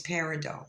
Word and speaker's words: Peridot: Anyway, Cornfed, say the name properly. It's Peridot. It's French.